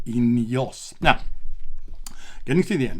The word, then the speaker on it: INEOS: taking over the whole world which we call ineos now getting to the end now getting to